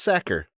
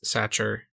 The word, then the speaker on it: Sachar: He goes, yeah, people mispronounce my name all the time. It's pronounced like you're a football player, or if you had a whole bunch of potatoes and wanted to throw them in bags.